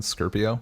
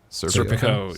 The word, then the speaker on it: Serpico: Scorpio? Is that how it's pronounced? Serpico, yeah. Serpico. The hero cop.